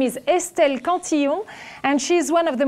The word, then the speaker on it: Cantillon: Her name is Estelle Cantillon, and she's one of the most brilliant economists of her generation.